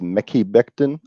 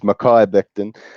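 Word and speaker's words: Mekhi Becton: think that they take who you actually pronounced as mickey Becton I think it's Makai Becton is is the tackle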